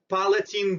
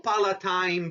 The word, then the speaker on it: palatine: our previous diagrams are two palatine bones or palatine bones both pronunciations are correct they are located between